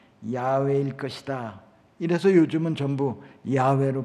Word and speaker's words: 야훼: 나올 때마다 하나님의 이름 야훼를 그대로 부르지 않고 아도나이 주님이라는 말로 대체해서 불렀습니다 그리고 세월이 한참 가니까 히브리어는 원래 모음이 없는 글자기 때문에 나중에는 그 글자를 봐도 뭐라고 발음하는지 모르게 되었습니다 예전에 우리가 여호와라고 하나님의 이름을 불렀지만 학자들은